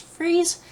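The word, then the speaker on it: frieze: the greek mainland and that word right there that's pronounced freeze and it was actually very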